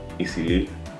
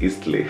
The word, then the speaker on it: Eastleigh: We have to go to Eastleigh. I used to call it Eastleigh because how it's spelled, but it's Eastleigh apparently.